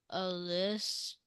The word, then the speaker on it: elicit: If you look at the pronunciation guide, it says illicit. So you'd say elicit.